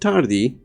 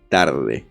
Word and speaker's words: tarde: and you say, bitch, it's not tardy, it's tarde. E doesn't sound like E in our language.